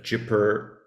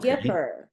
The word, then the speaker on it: Gipper: keeper the Dipper the jipper it's the Gipper Gipper The Gipper hard G The Gipper I have